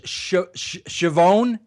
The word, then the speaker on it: Schiavone: So the correct pronunciation back there was Schiavone. Schiavone, right? You know what Schiavone rhymes with, right? If you're Italian. No. Maybe that's why they changed it, Tony. Schiavone rhymes with Gavone.